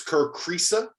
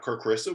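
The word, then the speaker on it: Kerr Kriisa: and uh there uh it's kur cresa not kur christa we got that one wrong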